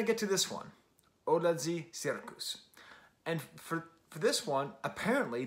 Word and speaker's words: Cirkus: And then I get to this one, Odlazi Cirkus.